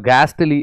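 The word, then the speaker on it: ghastly: Dismal इसका synonym होता है, और गैस्टली, एच साइलेंट होता है, गैस्टली मतलब होता है शॉकिंग।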